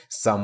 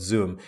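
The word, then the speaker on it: Xumm: the some some wallet that's that's how actually they pronounce it Sam wallet and not zoom so you get the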